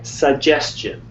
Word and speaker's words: suggestion: Yeah, because you see the T and you think suggestion, which is not how you would say it.